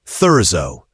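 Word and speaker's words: Thurzó: Though much of it lies in ruins, György Thurzo, the man who would hunt her, is pronounced György Thurzo.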